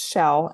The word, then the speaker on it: Schell: And funny story, it's pronounced Schell and nobody gets it right the first time.